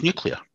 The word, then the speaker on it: nuclear: shepard was nuclear right so it's nuclear and that's how you say it but like don't think donald trump started that and he was like nicola like they say he says it funny nuclear like that it's just nuclear doesn't know yeah i